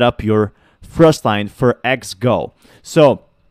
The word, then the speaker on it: XGO!: this time we're going to be talking about xgeo um or X go actually is the correct pronunciation so the first thing you want to